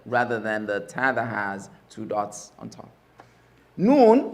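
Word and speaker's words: ح: Ha. Deep one is deep.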